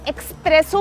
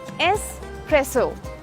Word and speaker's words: espresso: तो इसमें एक्स नहीं है ना, फिर हम एक्सप्रेसो क्यों कहते हैं इसे? ये एक्सप्रेसो नहीं है, ये एस्प्रेसो, एस्प्रेसो।